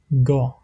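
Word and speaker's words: gá: Et quand le G est une consonne large, je prononce G normalement, comme dans le mot ga, ga, qui signifie besoin.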